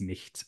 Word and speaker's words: nicht: But anyway, it's nicht, nicht or nichts in modern German.